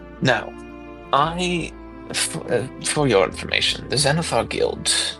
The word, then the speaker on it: Xanathar: it's Except fucking Xanathar is spelled awful.